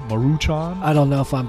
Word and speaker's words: Maruchan: of All Brands I like top I like maruchuan Maruchan I don't know if I'm but the pronunciation we're being very bad Asians right now